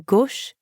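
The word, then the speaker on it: à gauche: the left a gosh notice that the sound in gosh is the same as in or in the english word story o it's kind of like the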